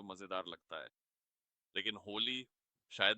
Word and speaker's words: होली: और उच्चारण को स्पष्ट करने के लिए ये HOHLE है, तो आप काफी करीब थे।